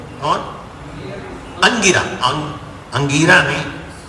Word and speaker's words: अंगिरा: से ऋषि थे, कौन, अंगिरा, अंगिरा नहीं, अंगिरा, छोटी ई की मात्रा प्रोनाउंसिएट करो, बड़ी ई की मात्रा प्रोनाउंस अंगिरा हो जाएगा।